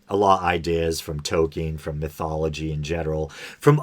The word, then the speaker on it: Tolkien: right i growing up i always said tokyo but i think it's token but um they had uh